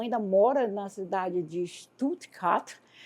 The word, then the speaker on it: Stuttgart: Até a pronúncia sua é legal, é Stuttgart, né? Nós normalmente falamos assim, Stuttgart. A gente fala para fora e vocês falam para dentro.